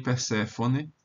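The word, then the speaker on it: Περσεφόνη: Acaso também Perséfone, em latim vai ser Perséfone, porque esse é breve, mas o grego aqui é longo, então acento na penúltima sílaba.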